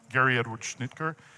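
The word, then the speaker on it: Gary Edward Schnittjer: I I found this quote helpful and I hope you do too from Gary Edward Schnitker is how it's pronounced uh who's a brilliant scholar on on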